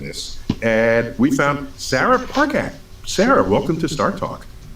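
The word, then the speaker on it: Parcak: And we found Sarah Parkak. Sarah, welcome to Star Talk. Thank you. Thank you so much for having me. I'm thrilled to be here. And I pronounced your last name correctly. Hard C, Parkak.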